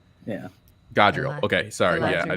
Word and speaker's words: Galadriel: I don't know, mispronounced because I ran it. God, can somebody say her name one time? Galadriel. Yeah. Galadriel.